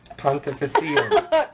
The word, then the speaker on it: Pontificatum: Pontificatum.